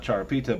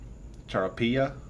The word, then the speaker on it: Charapilla: Not Charapita, but Charapilla with the double L, which is pronounced like a Y.